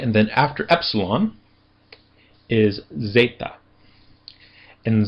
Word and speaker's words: zeta: And then after epsilon is zeta. And zeta has a z sound as in days.